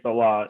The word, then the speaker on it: Saleh: So that's the proper way of saying Saleh.